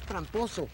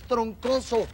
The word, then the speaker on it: Troncoso: pronunciar mi apellido y apellido no es tramposo es troncoso troncoso y yo lo